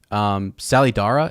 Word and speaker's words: Salidar: But yeah, it's a name that's dropped where which she knows the name, but I mean it's spelled Salliedare, but it sounds like Sally, Sallydara, like if you were Salidara, yeah.